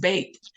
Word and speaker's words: Bet: It's spelled B-E-T, like the word bet, like you're betting on a horse race or something, but it's pronounced bait.